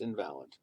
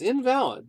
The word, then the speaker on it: invalid: it's spelled like the word invalid but it's pronounced invalid it's invalid because uh you know if you know that